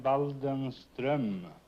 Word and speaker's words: Waldenström: In Sweden, you pronounce the name Waldenström.